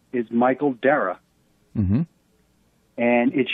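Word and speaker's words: Darragh: Dara, D-A-R-R-A-G-H, Dara.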